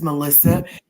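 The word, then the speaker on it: Malysa: My name is Melissa. M A L Y S A. If you flip it around and pronounce it again, it sounds like asylum.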